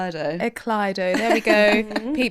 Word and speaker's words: Ekleido: What pronunciations do you get? Iso. Yeah. Ekaido. Interesting. Eclo. Yeah. Say it one more time so we're clear. Eclo.